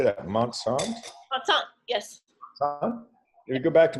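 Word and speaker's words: Montsant: to mon how do you say that monant monant yes you go back to monant when you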